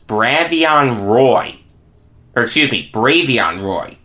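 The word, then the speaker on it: Bravvion Roy: who he was Brad beyond ROI excuse me brave young Roy it's spelled bravi on but it's pronounced brave young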